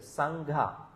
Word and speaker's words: Sangha: There is an aspirate, Sangha.